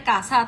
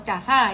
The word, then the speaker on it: CASA: mengalami Pelemahan Jadi turunnya bacanya kasar atau Casa yang benar Ayo menunjukkan bahwa perusahaan